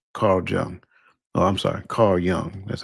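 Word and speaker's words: Carl Jung: Carl Young. That's how it's pronounced.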